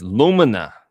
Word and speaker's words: Lumina: Pronunciation. Lumina. Lumina. It's Lumina.